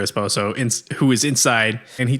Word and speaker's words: esposo: And she says she's waiting for her espresso. No, she says she's waiting for her esposo, who is inside, and